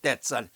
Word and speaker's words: debts: pay 갚아라, all your debts. 이 debts 할 때는 빚을 댔더라 그러거든요. B는 묵음이에요. 발음을 안 해요.